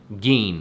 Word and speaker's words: Gein: and corpse defiler ed gean that's how you pronounce it not again i apologize it's ed gein ladies and gentlemen g-e-i-n if you would like